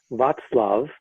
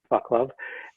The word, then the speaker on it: Václav: i was told that your name should be pronounced vat's love not love and is that close yeah